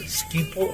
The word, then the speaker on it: Schiphol: How do you pronounce that? Schiphol or Schiphol?